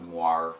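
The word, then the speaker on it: moiré: as far as the moir goes m o i r e Accent on the E the Nikon's viewfinder is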